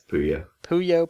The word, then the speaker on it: Puyo: Yeah, it's Puyo.